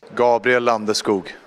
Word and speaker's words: Gabriel Landeskog: Gabriel Landeskog. Gabriel Landeskog. Gabriel Landeskog. Gabriel Landeskog. Gabriel Landeskog. Landeskog. Gabriel Landeskog. Skoog. Skoog. I think there's a little sh in there Gabriel too. Landeskog. Gabriel Landeskog.